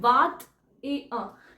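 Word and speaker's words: vingt et un: क्या है ठीक है तो जब वल्स आ जाते हैं ना फ्रेंच में तो क्या होता है कि साथ में दो वर्ड जुड़ जाते हैं वात ए अ ये प्रॉपर बोला जाएगा ठीक है वरना ये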